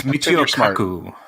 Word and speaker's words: Michio Kaku: I've sent letters to Elon Musk and how do you pronounce the other scientist's name? Michio Kaku? Is that it, Chris? Help me out here. Michio Kaku.